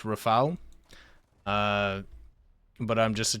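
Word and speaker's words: Rafale: missed um also when I know the Rafal was pronounced Rafal uh but I'm just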